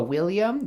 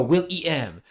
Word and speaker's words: Willem: more than most people people sell my name with the E and yet they still go William he probably go will maybe he go Willem but at least it